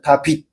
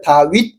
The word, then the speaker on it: 다윗: 다비드도 이브리어로 다비드인데 엘라어로 다빗이거든요. 다빗. 그걸 갖다 대입을 했는데 한글 성경에서는 그 다빗 비읍 발음이 하기가 힘드니까 다윗 이렇게 된 거예요.